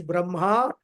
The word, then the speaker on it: Brahma: two words are there one is brahma with a long auruka brahma and brahman which is the niruna brahman which is beyond time and space. So that Brahma with a long a is Saguna Brahma and who is Mr.